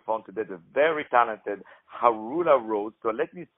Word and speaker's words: Haroula Rose: Once again, ladies and gentlemen, I had on the phone today the very talented Harula Rose. So let me spell it out for you.